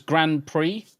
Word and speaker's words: Grand Prix: Oh, or it could be just brie because Grand Prix and you don't pronounce the X. It's just an E sound.